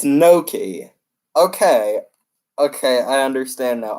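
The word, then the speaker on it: gnocchi: you even pronounce it that's not how you say can ochi know it's no key okay okay I understand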